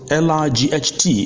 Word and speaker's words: light: after me I I the I sound is basically the sound of igh where the GH is silent for instance the word